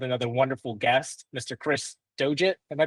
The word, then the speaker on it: Doggett: Chris Doit. Am I pronouncing that right? I should have asked you that before. Dogget.